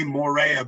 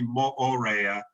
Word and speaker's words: Moorea: And as Larissa just pronounced it, my understanding is that all of the vowels are pronounced in the Tahitian language. So it's yes. we say Moorea, but it's actually Moorea and Taha'a.